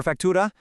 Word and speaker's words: factura: For factura, try to get a little bit of a roll on that R.